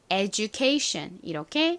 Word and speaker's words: education: 어떻게 읽으시면 될까요 한국식으로는 에디션이라고 읽고 실제 영어식 발음으로는 education 이렇게 살짝지 소리가 들어간 발음처럼 읽습니다 의미는 교육이라는 의미였죠 따라해 보세요 education 좋습니다 마지막 제일 긴 단어 안내 데스크에 항상 써